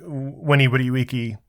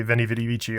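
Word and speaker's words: veni, vidi, vici: I believe are documented like winny Wii or as most common people say Vinny VII although that's not how it's pronounced but you know there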